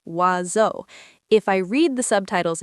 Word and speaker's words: oiseau: It has seven letters and sounds like "wazo".